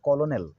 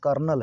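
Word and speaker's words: colonel: अवसर पर देते हैं कॉलोनल गलती से पर देते हैं कॉलोनल एक्चुअली बिल्कुल नहीं है बल्कि यह कर्नल है मिलिट्री में होते हैं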